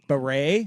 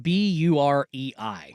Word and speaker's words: Bahrain: Bahrain? It's like Burei.